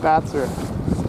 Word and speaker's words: Batzer: I mispronounced his name about 4,000 times in the previous video, so there's no R in Bar's name except his first name, not the last name. Batzer.